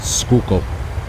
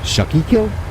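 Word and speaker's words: Schuylkill: where they came up with this but it's pronounced skook so and it's right over by Philadelphia because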